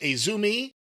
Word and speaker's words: AZM: We've seen her name before, AZM, but apparently it's pronounced Azumi, and I had not seen her wrestle AZM before.